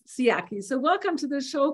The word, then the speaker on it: Sciaky: You might say Sciaky, but I know it's Sciaky.